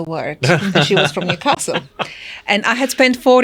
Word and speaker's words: Newcastle: said Newcastle yes and it's only if you're from Newcastle that you say Newcastle yeah that's true and the rest of the world has a really weird pronunciation yeah Newcastle and they're wrong Newcastle and they're wrong